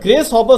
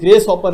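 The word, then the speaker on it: Grace Hopper: ध्यान रखिएगा, ये ग्रेस हॉपर है, अक्सर लोग गलत प्रोनाउंस करते हैं, ग्रास हॉपर। इट्स नॉट ग्रास हॉपर, इट्स ग्रेस हॉपर।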